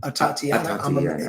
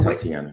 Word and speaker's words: Atatiana: How you say her name? Atatiana. I was saying Tatiana. Yeah. There's an A in front of it.